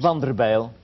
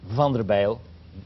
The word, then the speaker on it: Van der Bijl: I will not try to pronounce his last name. It's one of those wonderful Dutch names. Just Van der Bijl. Say again. Just Van der Bijl. Van der Bijl.